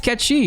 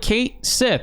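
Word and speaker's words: Cait Sith: joke they're like yo your name is actually not spelled the way that it sounds and he's like no my name is Kechi and he's like you sure it's spelled like Kate Sith and uh if they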